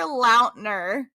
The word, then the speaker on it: Lautner: Actually, Taylor Lautner.